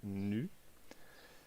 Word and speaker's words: nu: Donc par exemple, pour l'acier, coefficient de Poisson nu, donc ça s'écrit nu, ça se prononce nu, égale à 0,3.